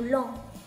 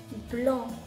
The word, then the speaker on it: blanc: 発音を練習してみましょう。ブロン、ブロンです。